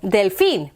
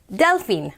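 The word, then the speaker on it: delfín: like crocodile cocodrilo see when there's a little accent like that that means that's where you put the emphasis on the syllable delfin not delphine right delfin hedgehog prickly oh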